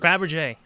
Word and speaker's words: Fabergé: Fabergé, thank you.